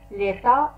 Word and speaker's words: l'état: إذن كلمة l'état la ننطق التاء في الأخير، l'état et le gouvernement.